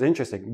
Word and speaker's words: interesting: that the word is interesting but in everyday speech interesting interesting interesting i have four syllable syllables when I actually say it naturally it becomes three syllables and that T and